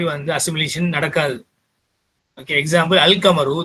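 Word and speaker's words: القمر: Okay, example Al Kamaru, the moon is pronounced அல் கமரு. அல் கமரு எப்படி வாசிக்கப்படுதோ அப்படிதான் எழுதப்படுது.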